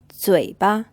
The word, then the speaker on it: 嘴巴: 嘴巴 This word is pronounced with a third tone, and the second syllable is unstressed.